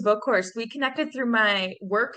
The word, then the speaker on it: Boekhorst: on the show Megan rains welcome to the show hi thanks for having me for sure I hope I pronounced your last name correctly it's actually Megan's a book course we connected through my